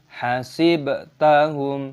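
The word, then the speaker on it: حسبتهم: Idza ra'aitahum hasibtahum. Ba dalam hasib memiliki sukun. Kita membacanya sebagai qalqalah. Kita memantulkan suara, dibaca sebagai hasibtahum. Mim sukun bertemu dengan lam, dibaca sebagai izhar syafawi.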